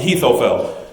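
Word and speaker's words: Ahithophel: that so many times i looked it up online i'm like consulting the greek and hebrews who says this right the heathofeld apparently is the right way to say it verse 20 it says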